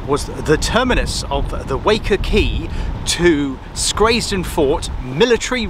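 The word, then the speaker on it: Wacker Quay: liner oh luna don't never know where to pronounce it it's waker key and the reason it's uh of strategic importance is because this was the terminus of the waker key to schrazed and fort military railway first came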